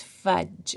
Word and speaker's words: fudge: is fudge when you say fudge you don't say this D sound it's not fun it's fudge so I highlighted it